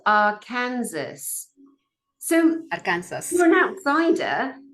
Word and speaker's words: Arkansas: Arkansas is spelt Arkansas. So Arkansas. you're an outsider. How could you possibly know that that's Arkansas unless you've got some kind of Dutch verbal language knowledge?